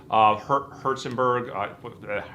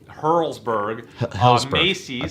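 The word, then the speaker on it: Helzberg: Hertzberg, I'm saying it wrong. Hurlsberg.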